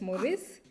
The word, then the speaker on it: Maurice: So if if you if you know French you would understand that Mauritius in French it's St. Morice.